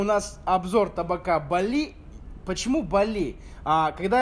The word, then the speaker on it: Balli: Они мне сказали, что табак называется не Бали, а Бал. То есть, как бы с турецким произношением, как будто мед. То есть, бал, да, мед.